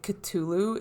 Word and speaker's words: Cthulhu: Then we have Cthulhu, the one I do know how to pronounce. Rob said you could also say Cthulhu if you want to be uppity about it, which I don't.